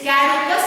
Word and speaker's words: caducous: Pronounce properly. It is caducous or fugacious.